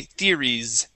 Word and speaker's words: theories: Okay, now that S at the end of the word is a Z sound, so we need to say theories.